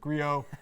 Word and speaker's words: Griot: Sometimes you're a little blown away how people pronounce it. Like, how in the world did you get that out of Grio?